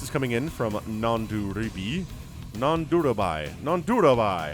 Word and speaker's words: Nanduribhai: Nanduribhai. How about that? Nanduribhai. Man, 4 syllables is a lot.